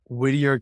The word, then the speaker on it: Whittier: is that yeah what I'm out in uh Whittier California right now that's where my practice is at yeah okay okay so H how does being part of the the Whittier Community like how has that shaped how you